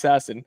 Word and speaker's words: Sasson: I switched up his pronunciation again. I keep switching in between, even though I'm pretty sure it's Sasson.